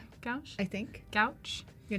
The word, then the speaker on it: gouache: Yeah, gouache is how I've always.